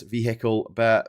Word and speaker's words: vehicle: Uh, Americans don't understand the concept of silent letters in words, hence vehicle.